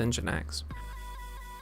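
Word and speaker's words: nginx: use fast API with engine X so engine X is spelled NG g i NX rather than engine X and and uh the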